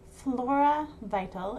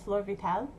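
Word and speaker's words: Floravital: out i'm sorry it's called flora vital and people like they call it floor vital um it's spelled f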